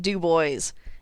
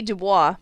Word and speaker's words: Du Bois: get mangled i present dubois it should be dubois but nope it was named after a guy named jesse who mispronounced his own last name and before you